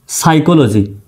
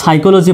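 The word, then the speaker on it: psychology: পির পরে এস থাকলে কিছু কিছু শব্দে উচ্চারণ হয় না। যেমন সাইকোলজি পি এস ওয়াই সি এইচ ও এল ওজি ওয়াই এটা কিন্তু সাইকোলজি বানান।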